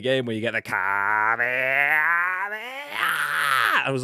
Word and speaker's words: Kamehameha: That Kamikamelia one. Well, that's the northern version. But like Kamehameha is, I think, is the way that you're supposed to say it, but Kamehameha, mate.